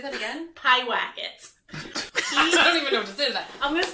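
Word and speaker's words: Pyewacket: which i did like sorry say that again pie whack it i don't even know what to say to that i'm gonna spell it e t p-y-e-w-a-c-k-e-t racket okay sure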